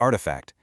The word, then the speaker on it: RTFKT: He co-founds this company called RTFKT, pronounced artifact, and the idea was honestly revolutionary.